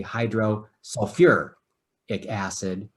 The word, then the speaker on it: hydrosulfuric acid: hydrosulfic acid okay now there's a couple of elements that when you write their names as acids they stick an extra syllable in there sulfur is one of them so i'll see although theoretically hydrosulfic acid is exactly correct they actually say hydro sulfur acid and so anytime you